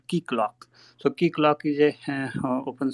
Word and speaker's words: Keycloak: Obviously, if you want to contribute on Java, I will suggest you the project called Keyclock.